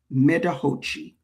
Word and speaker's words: Medahochi: But the Metahochi Festival, MEDAHOCHI, Metahochi.